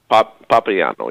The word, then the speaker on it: Papiano: Hey, how do you pronounce, is it Papiano? Papiano, yeah. Oh, we were doing it right.